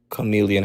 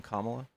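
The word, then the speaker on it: Kamala: This economy is not going to get better under Chameleon Harris. You mean Kamla? No. Are you purposefully mispronouncing your name or you just haven't figured it out yet?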